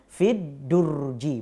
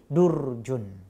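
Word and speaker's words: في الدرج: Nah, ketika dimasuki fi maka berubah jadi fiddurji. Ya, dibacanya fiddurji, bukan lagi durjun.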